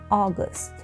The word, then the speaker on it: August: انتبهوا للفظ أول هذا الشهر. August. August. الحرف أو الصوت الأول من هيدا الحرف لحتى تلفظه صح رح أعلمكم تريك، هي إنه تلفظ آ كبيرة آ بعدين تدور الشفاه، ثم تدور الشفاه. اوكي، يعني بنقول آ وأو مع بعض.